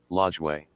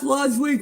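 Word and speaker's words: Lajoie: ail okay second baseman nap lodway that's how you say it I can't believe they said nap lodway correctly Fly ball to Center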